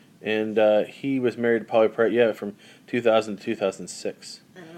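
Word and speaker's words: Pauley Perrette: Polly Perrette.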